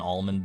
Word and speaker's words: almond: of a sudden it took me a while to get used to not pronouncing the L and almond and sand I still say almond